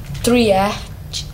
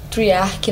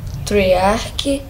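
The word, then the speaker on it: Treyarch: jogo foi desenvolvido pela pela grande triart triarc na verdade né pronunci um pouco diferente né triarc e publicado pela activision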